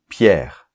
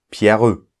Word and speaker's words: Pierre: En position finale, on ne prononce pas la voyelle E. Les autres voyelles, on les prononce. Donc, par exemple, on va dire Pierre, mon prénom. On va pas dire Pierreux, on dit Pierre.